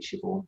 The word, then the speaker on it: Siobhan: And for me, Siobhan was 𝘬𝐵𝑗𝑡𝑗, and then someone told me now it's actually Siobhan. So it always makes me laugh when I see a Siobhan come in the room.